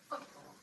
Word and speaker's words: football: It's not football, but football. Stress on the first syllable.